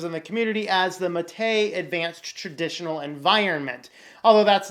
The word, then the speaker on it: MATE: in gnome - but it developed the name matei because we did not want to say gnome